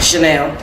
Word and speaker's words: Chanel: Chanel, like the perfume.